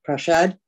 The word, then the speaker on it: Prashad: It's of course Prashad, and not what I happened to mumble into the microphone, so apologies for that.